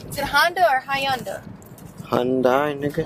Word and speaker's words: Hyundai: Hyundai, nigga. Hyundai.